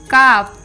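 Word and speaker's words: calf: ए एल एफ हाफ सी ए एल एफ काफ सी ओ यू एल D could S एच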